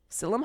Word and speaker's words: psyllium: Psyllium husk.